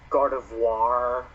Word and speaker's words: Gardevoir: got me is that they actually pronounced gardevoir with the french pronunciation so it's gardevoir god of war vivian